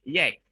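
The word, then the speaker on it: یک: And then the result from the analysis, it is found that the sound number 1 in Persian is pronounced by yek.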